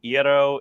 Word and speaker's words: gyro: Well, my one of my customers is the biggest Greek food company in America, so gyro rhymes with hero.